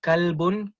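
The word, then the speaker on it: كلب: If your tajweed is not up to par and you are pronouncing your qaf as a kaf, now you're talking about, my kalbi so, bi kalbin salim, and when you are pronouncing a qaf as a kaf, instead of talking about your heart, you're talking about your dog.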